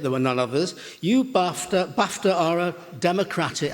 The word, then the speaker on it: Bafta: You, Bafta are a democratic... I said Bafta, which rhymes with Dafta.